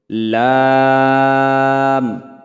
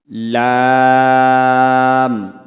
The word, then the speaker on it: لام: তো জিহ্বার আগার কিনারা সামনের উপরে যে দাঁতের মাড়ি আছে মাড়ির সাথে লাগান এবং আমার সাথে উচ্চারণ করুন লাম لام লাম لام লাম।